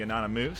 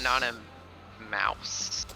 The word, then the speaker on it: Anonymouse: Some people pronounce it Anonymouse. Okay. So you However, prefer however you feel like pronouncing the mouse then? That is how I pronounce it.